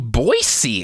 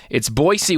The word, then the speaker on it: Boise: and he kept saying Boise. And I'm like, you're saying your own city wrong. No, the rest of us say it wrong. It's Boise with an S, just like it's spelled.